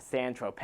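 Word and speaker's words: San Tropez: and then we have sand Trope which is spelled sand Tropez but this song's fine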